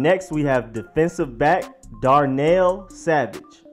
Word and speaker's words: Darnell: we have defensive back Darnell Savage it's not Donald it's not Darnell it is dark nail like hammer and nail savage Darnell Savage easy but it's just one